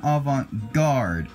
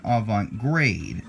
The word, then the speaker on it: avant-garde: see the third video this is Italian avant-garde but at the bottom here it's misspelled as Italian avant grade so it's avant-garde alright this is the